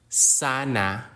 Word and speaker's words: sana: glal stop or impit the gloal stop is a sound made by briefly L closing the vocal cords which is a natural part of Filipino pronunciation particularly at the end of words ending with vowels Sana which means hopefully in